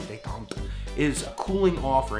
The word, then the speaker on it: détente: It's actually a French word. I used to say détente. I sound like a Native American doing that. The actual word détente, I say it like a Frenchman, détente, is a cooling off